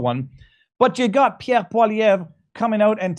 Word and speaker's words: Poilievre: How do you pronounce his last name? Poilievre.